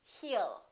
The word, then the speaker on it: he'll: I'll talk to you he will remember don't pronounce that W a lot of my students still tend to put little double yawn they say he'll it's not you all its he'll he'll he'll call you he'll talk